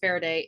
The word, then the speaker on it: Farideh: Just look up Faraday. It is spelled Farideh.